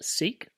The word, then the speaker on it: Sikh: with me why so the names seek the name of the faith the religion that you adopt seek literally seek to seek but it's spelt s-i-k-h in our language in punjabi means to learn so your